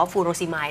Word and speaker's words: furosemide: ขับ ปัสสาวะ หรือ ว่า ฟูโร สิย ดิฉัน อ่าน ออก เสียง ถูก มั้ย คะ ถูก ครับ อ่า ที่ แท้ จริง